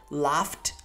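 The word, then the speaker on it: laughed: classici Things è regolare attenzione alla pronuncia Laf laft laft ok Molto semplice ma è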